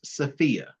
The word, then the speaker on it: SFIA: if you've heard of it's pronounced sopia uh it's a skills